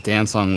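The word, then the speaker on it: Dancong: Milan Shiang Dan Dansong. It's spelled D A N C O N G.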